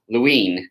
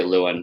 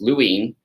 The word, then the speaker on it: Lewin: but the father of social psychology is Kurt Lewin is actually how you say his name most people say Lewin which is fine I don't know if he would like that but it's Lewin and he is considered the father of Social